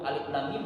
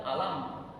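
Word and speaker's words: الم: mau lagi berguru Makanya kalau tidak berguru Alif Lam Mim dibacanya alam alif lam ro dibacanya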